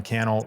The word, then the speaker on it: Cannell: Until then, my name is Cannell, rhymes with YouTube channel.